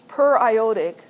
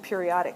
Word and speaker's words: periodic acid: does that look like how would you pronounce that per it's per ioic it looks like periodic right periodic acid does